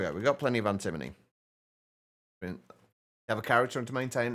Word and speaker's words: antimony: The research, the Cambridge Dictionary pronounces it antimony.